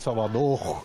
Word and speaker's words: Salvador: Não pronuncia esse R assim, de formação de Salvador, não.